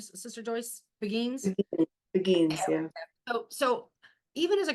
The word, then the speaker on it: beguines: Did I pronounce it right, Sister Joyce? Beguines? Begins, yeah.